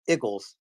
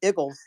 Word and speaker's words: Eagles: I hope you noticed George Malcolm pronounced the Eagles correctly you're from Philly hey no iggles Eagles hey you know what